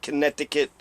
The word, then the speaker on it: Connecticut: Connecticut, because that's how you spell Connecticut.